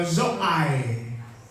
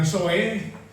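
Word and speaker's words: ζωή: Zoe atau zoai, supaya jangan dapat dengar soe, ya zoai, zoe.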